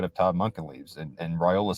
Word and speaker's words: Raiola: Jed, is it Raiola or Raiola? Because you're hearing both right now. I think it's Raiola. That's Okay.